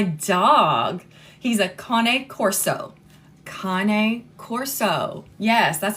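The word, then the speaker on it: Cane Corso: he's a cone Corso cone Corso yes that's how it's pronounced it's not pronounced Kan Corso it's cone Corso because it is Italian um but that's how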